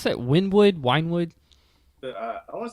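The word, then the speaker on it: Wynnewood: how do you pronounce that? Winewood? I want to say it's Wynwood.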